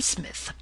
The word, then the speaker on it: Psmith: are you I am Smith said the old aonian reverently there is a preliminary P before the name this however is silent I like the tomb